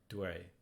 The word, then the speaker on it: dui: For some reason, UI is pronounced way, not, I would have guessed it would be we. It isn't. So like DUI would be dway.